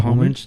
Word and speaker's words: homage: Homage to Romero.